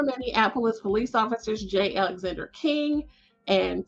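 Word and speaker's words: Kueng: this week and so I did confirm the pronunciation is J Alexander King and Tao Tao they were convicted on federal charges and so former Minneapolis police officers Jay Alexander King and toe Tao or sentenced by the U.S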